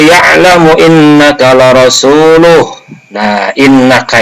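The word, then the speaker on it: إنّ: Nah, innaka itu dibaca innaka, tidak annaka.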